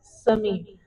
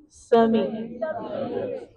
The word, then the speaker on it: Simi: You must pronounce it as Simi. So I'll put my teacher hat on and I want everybody to pronounce it after me. Simi.